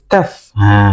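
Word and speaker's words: ك: berikutnya yaitu ada huruf kaf kaf bimu yakun tib huruf kaf memang miripnya seperti huruf K dalam bahasa Indonesia ya K tapi kalau dalam bahasa Arab itu seperti ada ee nafas yang mengalir ya ga keluar ga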